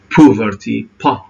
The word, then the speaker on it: poverty: جت منها الفقر poverty لاحظوا الأو هنا شباب ما ننطقها poverty poverty ودائما حرف الأو ترى ما هي أو قوية شوف حتى هنا حد قابلنا globalization ما تقول globalization هنا ما تمد شفتين للأمام poverty, security.